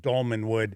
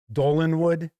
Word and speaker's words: Dolmenwood: I interviewed Gavin Norman, he had mentioned Dolmanwood. In fact, I kept mispronouncing it. I think I kept calling it Dolanwood, something like that.